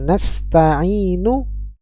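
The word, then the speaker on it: نستعين: masuk ke huruf setelahnya ya ke ayat setelahnya nastaininu ada Hamzah wasal maka dalam keadaan seperti ini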